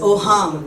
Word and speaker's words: Auhaam: सबसे पहले it is pronounced as ओहम।